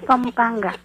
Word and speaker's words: Pampanga: ganoon o okay say it properly pangpang ate pampangga okay Pampanga an Pampanga Yes Pampanga Wala lang expert ako